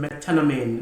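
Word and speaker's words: methenamine: The sixth one, the evidence uh is also a non-antibiotic evidence in metanamine. Metanamine is spelled M T H E N A M I M I N E.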